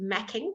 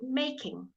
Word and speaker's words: making: you don't pronounce it macking that would be ma CK you pronounce it making alright it is as though the e is there even though it isn't then hating good good